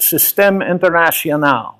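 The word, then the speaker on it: Système International: SI is stands for a French pronounced system Internacional it's like the international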